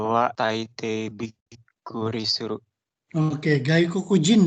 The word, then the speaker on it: gaikokujin: Oke, gaikokujin itu bacanya ya. Gaikokujin.